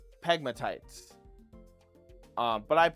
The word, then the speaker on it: pegmatites: Um, crystal barrel usually forms in pegmatates. Okay, it forms in uh or I guess I always pronounce this wrong. It's pronounced pegmatites. Um, but I say pegmatates cuz I'm an idiot.